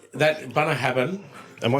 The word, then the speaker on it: Bunnahabhain: and it's if I was to read it phonetically, did that come out? Bunnahabhain. Bunnahabhain.